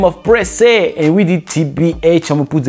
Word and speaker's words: Pressa: Guys, and none of you told me that it's Pressa.